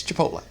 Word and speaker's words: Chipotle: in the full story the reporter pronounced it chip oh no sir it's Chipotle you know there's a